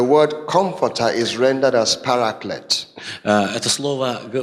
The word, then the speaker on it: paraclete: Now, in the Greek, В греческом переводе the word comforter is rendered as paraclete. это слово произносится как параклет.